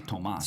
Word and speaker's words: Tomas: That's actually Tomas. Zelenkas? Because there's no H.